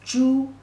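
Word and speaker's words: 朱: here means red color pronunciation is true remember this pronunciation is same as pork pig if you describe a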